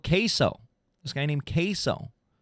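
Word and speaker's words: CaseOh: This guy named Queso. Like the cheese, but it's spelled CASE-OH.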